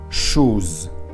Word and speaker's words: chose: Es una S que está entre dos vocales, entonces se pronuncia chose.